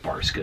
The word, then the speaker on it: Barska: I think that's called Barska is how you say that brand.